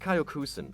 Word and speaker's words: Kyokushin: and world champion in Kyokushin Karate (pronounced Kyo-Koo-Shin), a martial arts style known for its body shots.